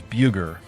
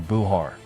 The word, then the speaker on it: Bulgar: When the Saxons, the Black Huns of Buliamar arrived in the 4th century, they pronounced the word Bulgar as Bugar or Buhar.